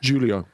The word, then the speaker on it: Julio: I'll have Julio Cesar. Great to get the keeper in there. Y mispronunciation, but Oh, how how should I have said it? Julio. Right. Yeah, I think we understood what you meant.